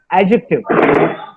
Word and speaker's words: adjective: D and J, whenever D and J are together, D is silent. The pronunciation should be of J. Like it's not adjust, the word is adjust. It's not adjective, the word is adjective.